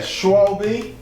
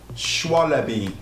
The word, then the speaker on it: Schwalbe: So yeah, Schwalbe. I think that's how you say it. Schwalbe.